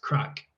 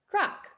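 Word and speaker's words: craic: can see the blog it's spelled c-r-a-i-c and it's actually simply pronounced crack crack um so what is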